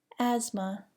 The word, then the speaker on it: asthma: Do not pronounce the TH in the following words: asthma, months, close.